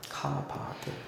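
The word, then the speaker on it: כבד: 그러니까 이게 크 발음이 나고 이게 브 발음이 나고 이게 드 발음이 나겠죠. 이거는 아 발음이 나는 모음이겠죠. 모양은 다르지만 둘 다 아바르나. 그래서 카바드 이렇게 거예요.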